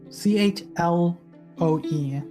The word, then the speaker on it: Chloe: register in my head o c-h-l-o-e it's like the chuck leo or leah chloe you gotta love you